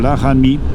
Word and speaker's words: Laramie: Et avec la déformation, c'est devenu Laramie. Parce qu'il y avait deux E à la fin, et ils n'arrivaient pas à prononcer le E, donc ils prononçaient le I.